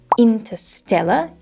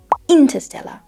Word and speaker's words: Interstellar: dispatch French dispatch uh instead of saying Interstellar he said Interstellar Interstellar obviously this is not